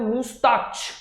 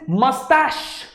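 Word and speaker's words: moustache: लोग उसको बोलते हैं मुस्ताच, इट्स नॉट मुस्ताच, इट इज मस्टैश, alright. तो आज के बाद से प्लीज ये बंद कर देना, मुस्टैच, माय डैड हैज अ मुस्टैच, इट इज नॉट मुस्टैच, इट इज मस्टैच, alright, और मस्टैश इवन बेटर।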